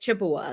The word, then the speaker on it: Chippewa: I asked them how to say it. Chippewa. That's how they told me.